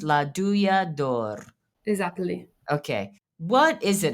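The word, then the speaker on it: Douja d'Or: Okay, but it's pronounced La Duyador.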